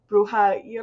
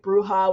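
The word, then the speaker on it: bruja: main ones is BR I'm gonna pronounce it wrong bruha it's like bruha with a IRA on the end um that's the Spanish word for witch for the most part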